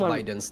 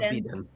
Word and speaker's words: Biden: how do you pronounce Biden's name is it Biden or benen said right yeah it is Biden I I it's like